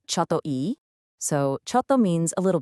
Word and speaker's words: ちょっといい: It's pronounced choto e.